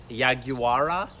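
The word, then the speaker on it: yaguara: word is kind of I'm gonna butcher the pronunciation of it but it's yeah guara and that word means animal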